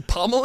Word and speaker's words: pommel: What's the pummel horse? You said that chronically wrong. You're still saying it wrong. Pummel horse. There you go. Pummel horse. Yeah, closer. A lot closer.